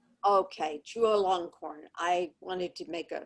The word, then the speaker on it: Chulalongkorn: How do you pronounce this? Anybody know? Chulalongkorn. Okay, Chulalongkorn.